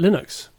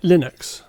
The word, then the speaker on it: Linux: And uh, Andy's going to tell us all about Linux.